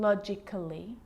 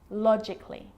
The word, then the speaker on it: logically: with the letter A now the letter A can be silent especially in words that end in a LLY like these romantically musically logically so I'm not pronouncing romantically musically and logically cut the AR get rid of it romantically musically logically